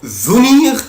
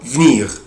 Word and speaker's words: venir: verbe venir، ليه نطقين اتنين الفيرب ده؟ اقدر انطقه venir او venir بمعنى verbe to come يأتي.